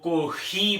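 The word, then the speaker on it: コーヒー: पहले हम लोगों ने लेसन में सीखा था जी फे जो है वो जापानी में फे की कोई प्रोनाउंसिएशन नहीं है, इसलिए जो है कॉफी को जो है वो कोही बोला जाता है और लिखा जाता है।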